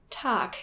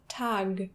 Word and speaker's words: Tag: Another problem really similar to this is that German words ending with G are normally pronounced as if there was a K, making it Tag instead of Tag.